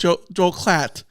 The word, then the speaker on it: Joel Klatt: Joel Klatt.